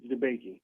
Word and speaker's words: DeBakey: Debakey.